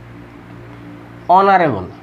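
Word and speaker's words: honorable: যেমন an honest, an hour, an অনারেবল, অনারেবল। এইখানে এই যে এইচটা হচ্ছে অর মতো, অর্থাৎ এইচের হ উচ্চারণ হয়, এই হটা এখানে উচ্চারণ হচ্ছে না, যার কারণে এর পূর্বে এন বসেছে, অর্থাৎ এই ওটা উচ্চারণ হচ্ছে।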